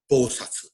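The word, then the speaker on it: 菩薩: Bodhisattva, again, is a Sanskrit term translated into Chinese, and the Japanese pronunciation of Bodhisattva is Bosatsu.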